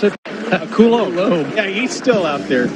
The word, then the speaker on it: Coulombe: It's Danny, how do you pronounce it? Coulombe.